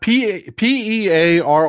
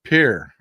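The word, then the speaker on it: Pearre: How would you pronounce that? P E A R R E. You know, I have a stickler for wanting to be respectful and correctly pronounce people's names. Greg Pier. Pear. I'm going with Pear. Y'all tell me. How do you think? I mean like pear like the fruit.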